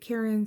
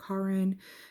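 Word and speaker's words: Caron: Some people pronounce it Karen, some people pronounce it Karin.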